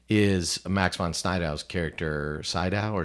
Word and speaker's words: Sydow: Sydow or Snydow? Sydow. Max von Sydow. You're trying to think how it's spelled, aren't you?